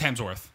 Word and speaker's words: Hemsworth: and then Luke Hemsworth or is it Hemsworth its Hemsworth Hemsworth not hell there's no hell in there it's just Hemsworth you've been saying it